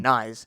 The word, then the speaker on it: Knies: I, And I I say knees, but I think the correct way is actually knives. okay, Someone's told me that it's knives without the V. So okay, all right, mm, Knies.